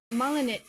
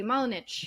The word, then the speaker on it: Malinic: We have, as in Adam, Malinic. Did I say it correctly? Malinic. Absolutely, yeah.